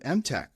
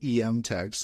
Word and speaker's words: MTech: of this new startup mtech which I've learned I've been pronouncing incorrectly I got a couple DMS for people I was saying em text so mtech um and it and